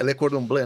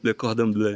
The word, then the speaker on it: Le Cordon Bleu: É Le Cordon Bleu, né, que fala? Pronunciei certo? Verdade. O cara foi em Paris. Como é que fala aí? Como é que fala? Le Cordon Bleu? Le Cordon Bleu.